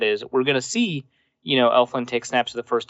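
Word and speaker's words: Elflein: Nick Easton's listed ahead of Pat Elflin. And I'm going to keep on pronouncing Pat Elflin's name wrong. I think it's Elfline, but I like saying Elflin.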